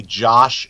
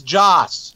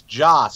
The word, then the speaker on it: Joss: Hey, does it bother you when people say Josh Whedon? It bothers me. It's Joss. Yes. 2 S's. Joss. I get irritated. I've heard it a lot. Josh Whedon is directing. It's like, no, it's Joss Whedon. Stop saying it wrong.